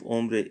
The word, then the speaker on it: hombre: The H of hombre is silent.